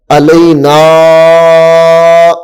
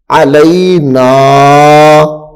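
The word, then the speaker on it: علينا: اب اس کو زیادہ لمبا نہیں کر دینا، علینا یہ زیادہ لمبا ہو جائے گا تو یہ کیا ہو جائے گا؟ غلط ہو جائے گا. اس کو تھوڑا لمبا کرنا ہے. علینا. نون چونکہ اس کے ساتھ الف لگی ہوئی ہے، الف حروف مدہ میں سے ہے تو اس لیے نون کو ہم تھوڑا لمبا کر کے پڑھیں گے.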